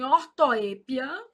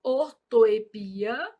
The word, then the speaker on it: ortoépia: Você pensou em ortoépia, que também pode se falar ortoepia, que diz respeito à grafia.